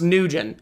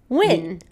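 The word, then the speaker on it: Nguyen: Next up was number 2, and that's so I always thought this last name was pronounced Nugent. Okay, but Reina told me differently. It's pronounced Wynn.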